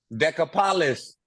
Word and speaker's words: Decapolis: Decapolis.